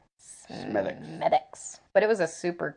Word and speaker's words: Smithwick's: But we also went to the Smithwick's Brewery, and it's spelt Smithwick's, but it's pronounced Smithwick's.